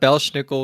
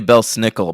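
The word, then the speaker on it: Belsnickel: that name Bel schnickel it's actually Bel snickel but I like to pronounce it I said it that way earlier and then you said schnickle so yeah I consistently say schnickel it's it's not really a choice I'm making I just can't pronounce it any other way okay well I thought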